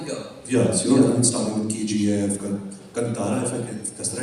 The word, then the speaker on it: Kantara: Yes, starting with KGF, Kantara, if I can, that's the right way to say it? Yeah. Kantara.